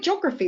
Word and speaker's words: geography: The word geography is quite interesting as well. We tend to, or depending on where you're from in the country, and you'll see I do this, geography, the E is actually silent, okay? But if I talk about geographical, I put the E back in, geographical, and the stress changes.